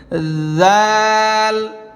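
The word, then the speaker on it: ذ: কোন নক্তা নেই দাল খালি এরপরে হরফটা হচ্ছে জাল নরম জিহ্বার আগা যেভাবে আমি আগের হরফটা বলেছিলাম জিহ্বার আগায় হালকা একটু কামড় দেন ওইখান থেকে উচ্চারণ করবেন জাল এমন না জাল এমন না জাল জালের উপর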